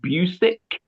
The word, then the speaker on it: Busiek: Now, this is when you had Kurt Busiek, I don't know how you're going to say it, and I George think he Perez. pronounces it Busick.